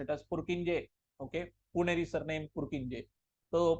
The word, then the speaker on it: Purkinje: Even though they harbor electrical dynamics, the okay, I am going to pronounce it as Purkinje.